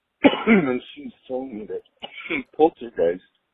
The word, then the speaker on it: Poltergeist: So, on the whole poltergeist issue, my sister's a bit of a paranormal buff, and she's telling me that poltergeist is actually pronounced in German as poltergeist, and she was telling me that poltergeist.